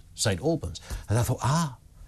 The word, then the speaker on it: St Albans: there's a problem in St Albans and I thought St Albans that's a bit weird it's not one of those names that you can pronounce wrong because everyone knows St Alburn and I thought ah